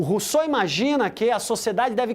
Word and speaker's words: Rousseau: personagem fundamental Ja rousse se escreve Rosal porque é francês a gente lê Então se a gente quer falar pronuncia a gente fala Rousseau mas se escreve ral porque ele é francês para o Rousseau O